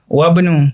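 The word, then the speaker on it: وابن: Terdapat huruf alif dalam kata ibnu tetapi dihilangkan dan tidak diucapkan. Wabnu adalah pengucapannya.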